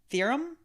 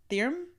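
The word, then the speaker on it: Thrym: okay so this guy I'm G to say this wrong he also has like three variations of his name I think it's theorum theorum okay it's t h y RM so I don't know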